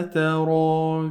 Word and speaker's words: ترى: Okay, we pronounce this part like long vowel alif.